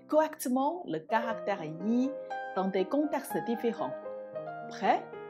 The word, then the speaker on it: 一: Vous voyez, dans ces trois cas, je prononce le caractère yi en respectant sa prononciation de base, le premier ton yi.